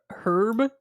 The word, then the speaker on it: herb: Wait, you don't like people who say herb? Herb instead of herb, isn't it? Herb? Oh my God. Like you don't pronounce the H, do you?